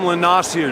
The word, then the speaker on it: Lanassier: We have now here Dom Lanassier. Did I pronounce that correct? Yeah, mate, you got it. Yeah, that's good, because it is French.